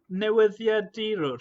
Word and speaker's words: newyddiadurwr: Newyddiadurwr?